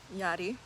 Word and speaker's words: Yadi: Yadi. Oh, if you didn't know how to say my name, that's how you say it. Yeah, there's an R in there.